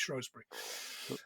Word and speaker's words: Shrewsbury: Oh, I could have gone one more there and done Shrewsbury, in spite of the fact it's pronounced Shrewsbury.